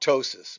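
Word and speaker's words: ptosis: going to talk about tosis which is a strange it's a Greek word and the p is silent and tosis is is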